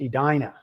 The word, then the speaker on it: Edina: When they pronounce it, it's pronounced Edina.